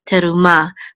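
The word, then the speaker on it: תרומה: Komets what an 8 the hay is silent so we'll just name terumah but the action is on the last syllable to Ma and terumah is what our torah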